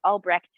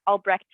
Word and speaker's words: Albrecht: born in germany and i pronounce it albrecht but every time i go to germany yeah albrecht and i pronounce the t at the end but i don't even